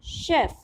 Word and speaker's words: chef: Here the pronunciation of CH is sh, तो we'll read it chef, ठीक है।